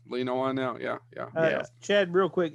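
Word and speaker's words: Whannell: Uh, As much Yeah, as I it's like not- the Invisible Man Upgrade, Lee, Yeah, am I pronouncing his name right? Lee Lee Wanell. Wanell, yeah.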